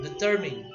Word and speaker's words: determine: terming the turbine okay the second syllable is the stressed one determine there we go yeah